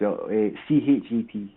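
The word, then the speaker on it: ח: That would be the hate, or the shet. It's pronounced CHET.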